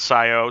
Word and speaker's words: PSIO: I think on their website they say they pronounce it as PSIO, so that's why I'm saying it. But I also say PSIO because PlayStation IO, it just makes sense, input output. But anyway, when you install it,